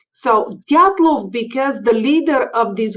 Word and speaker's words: Dyatlov: That's how I heard Dyatlov Pass for the first time.